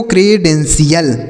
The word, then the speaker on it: credential: ठीक है ना, इसे पढ़ा जाएगा दोस्तों क्रेडेंशियल।